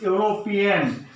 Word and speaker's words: European: Now, here, if the word it starts from the E, still we have to use a before it because this is European. We will produce the sound U. Means that U comes under the consonant sound.